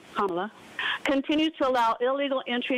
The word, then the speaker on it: Kamala: The open border promoted by border czar Kamala Harris, that's how you say her name, Kamala, continues to allow illegal entry into the country, causing chaos, disruption, and financial pressure on American cities and communities.